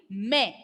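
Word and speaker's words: mais: Without trema, see the pronunciation, listen to the pronunciation. Without trema, pronunciation will be me. Me.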